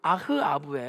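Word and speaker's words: אחאב: 합 우리말로 납 인데 이것을 히브리어로 발음하면 아하 아부 라는 단어의 앞 우 아흐 아흐 아부의 요 아 아흐 아부 아흐 아부 그래서 이 아흑 아아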